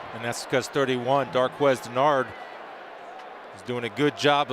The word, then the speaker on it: Dennard: And Darquez's explanation was, when I was growing up, we were Dennard too, and then my mom got really mad at my dad one time and told us from now on we're pronouncing our name Denard.